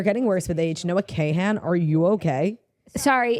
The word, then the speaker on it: Kahan: Noah Kahan, are you okay? Sorry, it says Kahan. If it was Khan, it'd be Kahn. Like everybody knows Khan.